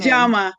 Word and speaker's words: Njama: And today, I have a guest, Miss Nama. Did I pronounce that right? Close. Say, tell everybody how to pronounce your last name. Jamaa. Like the magazine Jama.